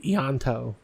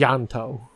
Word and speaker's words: Ianto: Oh yeah, most people would say Yanto. It's And Yanto. It's Yanto.